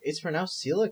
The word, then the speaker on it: coelacanth: Wait, it's pronounced coelacanth.